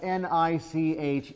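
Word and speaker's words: niche: Uh, there's a word that's spelled N I C H E. How is that pronounced? Nich. Nich. Why? Rhymes with rich.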